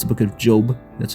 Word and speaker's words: Job: He references the book of Job in the Old Testament. I know it sounds like the book of Job, but it's not. It's the book of Job. That's how you pronounce it.